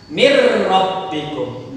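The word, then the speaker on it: مِن رَّبِّكُمْ: Cara membacanya sama, dilebur juga. Leburnya harus sempurna. Mir rabbikum. Nunnya tidak terdengar lagi.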